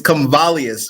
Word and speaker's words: Comvalius: It's Comvalius, but that was really close.